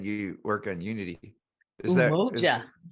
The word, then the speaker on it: Umoja: Is Umoja. Umoja.